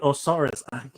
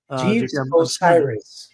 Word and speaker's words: Osiris: but um uh J je Jes or right osaris how do you can you pronounce that Osiris Jes Osiris my apologies I was I was